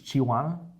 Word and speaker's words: chihuahua: melted cheese how do you say the cheese chihuahua chihuahua that is the best cheese the cake